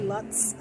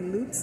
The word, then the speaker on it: Lutz: Lakes some people say Luts some people say loots it's spelled l u TZ so it depends on